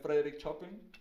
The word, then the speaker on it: Chopin: Obviamente no se va a comparar con el maestro de Bach, pero igual es Chopin, Frédéric Chopin, Chopin, como se diría, Chopin. Se escribe Chopin, pero es Chopin. Y bueno, pues entonces ese fue el producto.